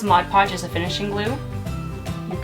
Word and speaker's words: Mod Podge: is glue now because Modge Podge Modge Podge see there I said it wrong because Mod Podge is a finishing glue